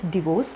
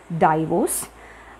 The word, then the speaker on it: divorce: is the correct pronunciation it is divorce not diverse and sponge sponge it